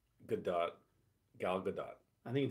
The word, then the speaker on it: Gadot: Caitlin pronounces it with the T. Yeah, I think I think it is pronounced with the T. I think Gadot is correct.